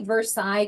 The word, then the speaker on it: Versailles: Bernice Arpin from is that Versailles? I say Versailles because it's French, but here in America they pronounce that different so I think it's Versailles Connecticut.